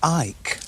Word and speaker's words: Icke: It's actually David Icke. Icke? Yeah. Oh, look like Icke. You could pronounce it Icke.